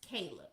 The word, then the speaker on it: Chleb: I called him Cleb in the beginning, but that's how his name is spelled. It's spelled Chleb, but his name is pronounced Caleb, okay?